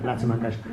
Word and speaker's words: Lata Mangeshkar: artist whose name I'm not very good at pronouncing. Can you do it? Lata Mangeshkar. Yeah, Lata Mangeshkar.